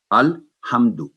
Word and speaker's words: الحمد: ہم دو نہیں کرنا، یہاں غنہ نہیں کرنا، الحمد، کیونکہ میم کی آواز